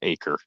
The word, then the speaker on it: Acker: Yeah, I believe it's pronounced Aker. I believe, at least that's what they were saying on Peacock. It's Acker. It looks like Acker, but okay.